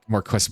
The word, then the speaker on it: Marques: The Marcus is spelled differently but it sounds exactly the same.